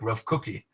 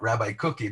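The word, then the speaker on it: Rav Kook: Now, the Hebrew is kind of like Rav, I don't know how to say it, it's like Rav Cookie. It's not Rabbi Cookie, but it's like Rav Cook.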